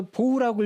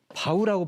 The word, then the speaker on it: bow: bow 자 그랬을 때 bow 발음을 좀 조심해야 됩니다 발음을 두 개로 봐야 돼요 바우하고 보우가 있습니다 보훈은 보은읍 발음을 보으라고 하면 활이라는 뜻이죠 활 우리가 흔히 어디서 보냐면요 레인보우 레인보우 무지개 무지개가 비가 온 다음에 생기는 활이란 뜻입니다 그래서 레인보우 무지개가 활처럼 생겼지 않습니까 그래서 레인보우 그래서 보우라고 읽으면 활이고요 이렇게 고개를 숙여서 인사하는 것은 바우라고 발음하셔야 됩니다 그러니까 make a deep